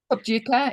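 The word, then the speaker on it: Phobjikha: is in the I'm not sure how to pronounce it, Charlotte. What the name of this valley? Pobjika Valley? Pobjika, yeah, it's a very sacred valley.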